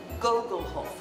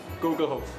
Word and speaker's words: Gugelhopf: While I've been doing a Gugelhopf masterclass, Guthart's son has been giving pronunciation lessons out the front to a steady stream of visitors. The Gugelhopf. Gugelhopf. Gugelhopf.